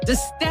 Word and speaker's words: DiStefano: I told you to put that accent on the staff. Oh. DiStefano.